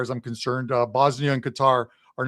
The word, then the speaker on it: Qatar: This is the group that has Canada in it, Bosnia and Qatar which some of you will pronounce as Qatar, but it is Qatar.